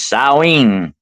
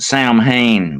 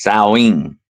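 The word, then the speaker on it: Samhain: Also known as sawing by the Celtics.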